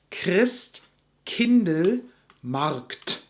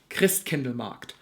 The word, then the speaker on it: Christkindlmarkt: This is done in the back of your throat. So the whole word is Christkindlmarkt. Or, when you're more advanced, Christkindlmarkt.